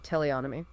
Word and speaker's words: teleonomy: No need to apologize for pronunciation. You've got it absolutely right, teleonomy.